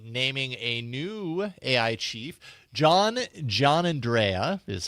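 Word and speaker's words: Giannandrea: John Andrea is how you pronounce his last name.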